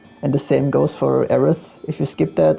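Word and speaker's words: Aerith: And the same goes for Aith. If you skip that, it's uh Aris.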